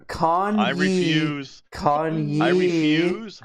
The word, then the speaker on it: Kanye: Kanye.